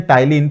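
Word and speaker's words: ptyalin: लिखते हैं पी से बट पढ़ते हैं टाइलिन। पी हमारा साइलेंट रहता है, तो इसके टी से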